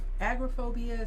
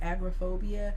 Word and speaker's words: agoraphobia: that would agriculture agrophobia some people say agoraphobia others will pronounce it that way but agoraphobia um you know I would say would be the most Pro appropriate way because if you say Agra Agra aggregate agitate you know it's kind of